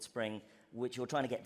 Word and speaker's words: Xspring: It's spelled with an X, but it's called Spring, which you're trying to get developers onto it.